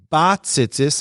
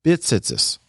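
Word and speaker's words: בְּצִיצִית: While standing, recite the bracha lihisatev b'tzitzis, which we see below, and pronouncing it bat tzitzis and not bit tzitzis. It's a grammatical focus that should be made.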